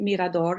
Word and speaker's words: Mirador: that name Mirador and Mirador is how you pronounce it in Spanish so it's like a